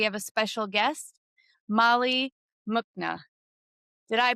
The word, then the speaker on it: Muchna: And today, we have a special guest, Molly Muchna. Did I pronounce that correctly? It's Muchna, but you pronounce it closer than a lot of people do.